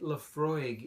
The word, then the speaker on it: Laphroaig: say Laphroaig, or however you might say it. Laphroaig is the correct pronunciation.